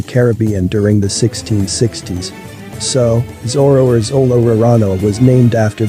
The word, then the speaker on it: Zoro: has two different names zoro is sometimes called as zolo one of the reasons is that l and r sounds in japanese pronunciation while addressing his name on the other hand